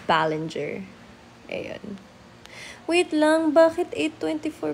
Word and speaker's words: Balinger: How to pronounce my surname? Oh my god, thank you. Um, it's called Ballenger.